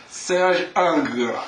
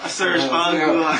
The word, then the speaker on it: Serge Angrand: Pronounce it correctly? Serge Angla. Serge Angla.